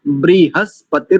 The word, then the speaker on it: बृहस्पति: जहां पर त्रुटि कर ब्रहस्पति ब्री हस ऐसे तोड़ेंगे ब्रहस्पति द धातु आइए संहिता